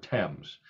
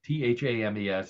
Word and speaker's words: Thames: week now next one comes from the River Thames I I hate this River because it's spelled t-h-a-m-e-s Thames Thames is what it should